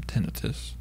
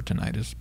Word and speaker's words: tinnitus: The single most powerful predictor of negative outcomes from tinnitus, or tinnitus, pronounced both ways, which leads even to suicidality.